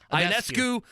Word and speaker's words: Ionescu: Ionescu. Ionescu.